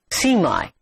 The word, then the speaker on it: semi: the prefix semi s-e-m-i the americans pronounce it as see my it means partly to